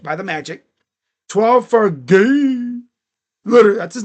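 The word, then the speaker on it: Gueye: 12 for Gay. Literally, that's his name. Muhamad. So looks like Guay, but it's gay.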